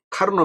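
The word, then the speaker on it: Karnaugh: 뭐 커프 맵이라고 하기도 하고 뭐 영어냐 뭐 그리스어냐 독일어냐에 따라 발음이 다 다르긴 한데 원래의 그 발음은 카르노입니다. 카르노.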